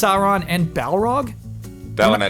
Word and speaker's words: Sauron: It is pronounced Sauron. Sauron. Sauron. Sauron. It's pronounced Sauron and Balro.